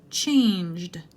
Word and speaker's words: changed: Changed, changed. J sound means it ends in a D.